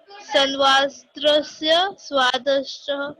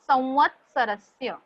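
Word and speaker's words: संवत्सरस्य: Uh, san, Sanvastrasya Dwadasha Masaha. Ma'am, what is the Very good. pronunciation of first? Yes, I'm correcting you. Samvatsarasya. Sarasya. हाँ, 2 parts में याद रखना बेटा. संवत एंड सरस्य.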